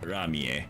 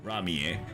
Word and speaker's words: Ramie: Yeah, in Japanese pronunciation it's pronounced Ramie, I guess.